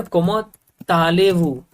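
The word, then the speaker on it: comment allez-vous: easy example और लेते हैं कोमा टी हम प्रोनाउंस यहां पर नहीं करते राइट बट हम कहते ना कोमा ताले व कोमा ताले व अगर नेक्स्ट वर्ड वाई वी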